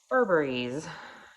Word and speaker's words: Burberry: it is a vintage Burberry's. It's actually Burberry, but if you know, the vintage Burberry is spelled Burberry's with an apostrophe S, like that.